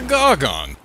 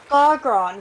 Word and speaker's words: Gargron: What the fuck is a gargon? No, Gargron with two R's.